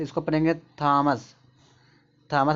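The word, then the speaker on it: Thomas: एच देखो ट का साउंड तो इसको पढ़ेंगे थॉमस। थॉमस में टॉम्स होता है। यहां इसको देखो थेम्स पढ़ेंगे। टी एच से देखो यहां पे [नाक से की जाने वाली आवाज़] ट का साउंड थेम्स।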